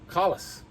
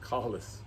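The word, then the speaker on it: Kahles: chat now the optic callus okay it is pronounced callus callus okay made in austria this is a 6 by 24 okay so i very rarely never go to 24.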